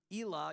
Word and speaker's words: Elah: actually the Valley of Elah you could call it ela or Ella I've heard it pronounced by people there too way so who knows but you thing like